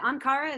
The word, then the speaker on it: Ankara: Is it Ankara?